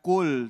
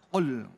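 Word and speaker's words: قُل: Jadi bacanya tadi bukan kul tapi ul ya. Ul. Nyeklok ya. Jadi kalau kul tadi artinya makan, tapi kalau kul artinya katakanlah. Baik.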